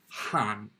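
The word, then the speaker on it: 半: That's pronounced han, han, and it means half.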